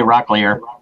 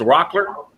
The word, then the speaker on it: Rockler: I call it h you say rockier you say rock rock and it's Rockler yeah I was I